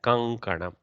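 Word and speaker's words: कङ्कणम्: So kankanam pronunciation also tracks the kakara's kantastha pronunciation, kankanam, like that. Okay, so that's why we write it like this and pronounce it like that, kankanam.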